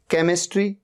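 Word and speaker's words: chemistry: After सी, सी के बाद एच आ रहा है। केमिस्ट्री, केमिस्ट्री सब्जेक्ट होता है, एच का यहां पर साउंड ही नहीं है।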